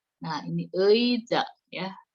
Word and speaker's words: 의자: Nah, ini 의자 ya. Si ei ini kalau di depan dibacanya ei. Kalau di tengah-tengah itu bisa jadi e ya. Kamu lihat aja yang kalau di depan itu ei ya.